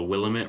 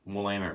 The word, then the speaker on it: Willamette: what you got to do is you got to go ask people questions about the Willamette River, Willamette. and you got to keep pronouncing it Willamette.